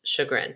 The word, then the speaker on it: chagrin: wow I definitely want looks like chug but it's sugarin I love it I